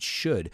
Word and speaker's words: should: often should you remember we don't pronounce the L it's not sure it should how often should you